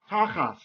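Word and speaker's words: תחת: Hebrew, this word is tachas. Whenever you have a tav without a dagesh, we pronounce it like an S.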